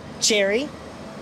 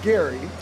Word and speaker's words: Gerry: Jerry Jerry Jerry yeah how do you pronounce this Gary this Gary this Gary this Gary this Gary this Gary this Jerry perfect so I mean it's